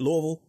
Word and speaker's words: Louisville: with Simon realy in Louisville Kentucky am I pronouncing it right David Louisville that is correct you got it I could